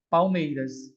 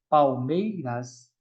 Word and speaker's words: Palmeiras: Palmeiras é como se L tivesse som de U.